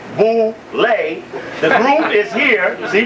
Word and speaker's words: boule: go to the boulevard known as bouley pronounced boo lay the group is here